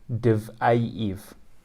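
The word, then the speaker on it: Diveyev: Igor Diviv is Igor Divayev. You just add an extra syllable.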